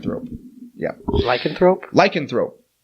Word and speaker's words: lycanthrope: yeah I can throw lycanthrope I had the wrong cadence cadence strong emphasis on the law on the wrong syllable del Toro is a